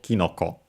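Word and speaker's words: きのこ: already as is, and so the accent is actually on the first syllable, kinoko.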